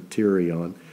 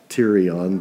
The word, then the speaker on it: pterion: They call it the pterion, kind of like pterodactyl. It's got a P-T, so that's the pterion.